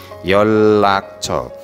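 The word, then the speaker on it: 연락처: nomor Yon rak co tapi cara bacanya yolak huruf mati n bertemu RI dibaca double l yolakco yolakco untuk saat ini bisa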